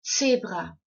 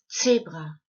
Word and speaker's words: Zebra: You would pronounce it as z, like in the name Betsy, z, in the name Betsy. Now let's have a look at a couple of other words. Das Zebra.